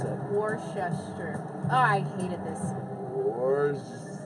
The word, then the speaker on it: Worcester: How do you pronounce it? Worcester.